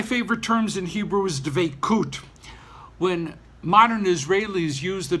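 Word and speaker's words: דבקות: As a matter of fact, frequently the term isn't dveikut, it's dveikus, kind of like an Ashkenazis pronunciation to make things seem like we're back in medieval Europe.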